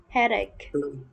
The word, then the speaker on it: headache: Aspirin can reduce can reduce fever headache ek cái chữ chờ nên mình đọc là khờ nha.